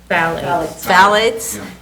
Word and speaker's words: phthalate: How would I pronounce Phthalate?